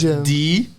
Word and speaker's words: Djinn: pronounce it? The It's Djinn.